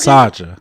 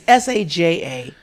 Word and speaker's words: Saja: all Saja. Saja, yeah, that's Saja. correct. Yeah. Okay. It's Saja, but it's pronounced with a little softer J, Saja. And Saja. it's Korean for lion, if you ever need a lion in Korea.